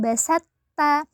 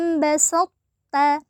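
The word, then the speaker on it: بسطت: Perhatikan cara membacanyaalah bas jadi tidak dibaca basta tidak dibaca basat atau basatta tapi dibaca laim basatta Jadi thya dimasukkan ya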